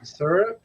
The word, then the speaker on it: syrup: you said it yeah down here we pronounce it surup surup that's right surup oh I forgot I'm